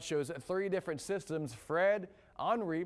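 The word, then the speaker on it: Henri: three different systems fred henry not henry it's henry it's a weird pronunciation from the hurricane center it's actually french and we also have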